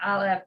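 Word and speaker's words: אלף: But Ashkenazi Jews, for the most part, pronounce ayin and aleph as the same sound. You know, basically that whatever vowel gives them flavor, because aleph is silent, you know.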